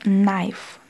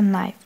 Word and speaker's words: knife: например далее то же самое эти две буквы будут ощущаться как например хуу k&n будет просто м например knife nicknight у нас будет будет просто knife буква к не читается wr будет просто в